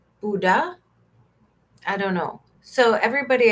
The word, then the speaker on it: boudin: Boudin? Boudin. Boudin? And somebody said you don't say the end. Buddha?